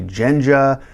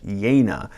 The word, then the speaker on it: Jejna: Judge Jejna is how you say his name. Some people say Jenja, some people say Jenga, some people say anything.